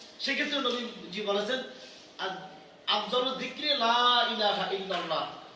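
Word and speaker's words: لا إله إلا الله: হতে হবে জিকির করব লা ইলাহা ইল্লাল্লাহ লাতে টান দিতে হবে কোন লা ইলাহা ইল্লাল্লাহ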